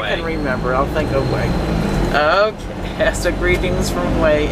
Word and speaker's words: Hue: I need help to hu not UI you way okay we way way okay I'll I'll try way I can remember I'll think of way okay so greetings from